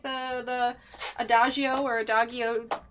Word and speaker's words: Adagio: the Rose and David it's not a hard G it's the other way is it a - you okay - oh yeah cuz of a dog you know that would be the hard G so Adagio that makes more sense who need a sticker